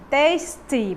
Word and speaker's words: tasty: Tasty, tasty, pronuncia esse Y aí bem direitinho, tá? Tem som de I, tasty, que é gostoso, saboroso.